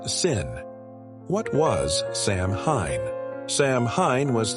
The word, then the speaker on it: Samhain: The night of the festival called Samhain, pronounced Sin.